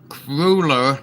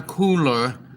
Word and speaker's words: cruller: What it is the cruller is cruller, not a cooler.